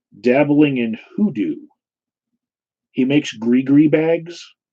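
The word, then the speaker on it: gris-gris: He makes gree bags. It's spelled like gris, but it's gree bags.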